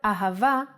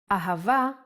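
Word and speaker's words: אהבה: and ah the word ahava uses it in both ways when hay appears in the end of the word it will always sound as ah ahava is love in Hebrew let's try to write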